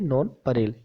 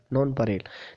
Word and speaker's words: nonpareil: हो, अद्वितीय हो, यूनिक हो, उसको बोलते हैं नॉन परेल। याद रखना है स्पेलिंग NONPAREIL, नॉन परेल।